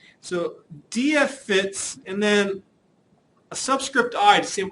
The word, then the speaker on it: DFFITS: The first one's called or referred to verbally as DF fits. So notice I don't say it's DFFITS. I actually pronounce it DF fits.